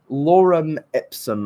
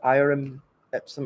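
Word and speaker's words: Lorem ipsum: like a Karen um oh find the desk Lauren ipsum I definitely didn't pronounce that right or is it irm episode I can't tell if that's her if that's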